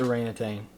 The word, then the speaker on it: orangutan: just be orangutan orangutan oh it is just orangutan I always thought there's a g out there yeah I've always said